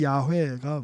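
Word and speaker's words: יהוה: 근데 이제 옛날에는 이제 그 발음을 정확하게 잘 몰랐기 때문에 여호와, 영어에서 제호바 이제 이렇게 이제 번역을 하기도 했었는데 보다 이제 그 좀 성경에 가까운 사실 발음은 야훼가 맞죠.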